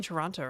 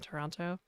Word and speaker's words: Toronto: Somebody said Canadians don't pronounce the second T in Toronto. So, I started saying the second T in Toronto.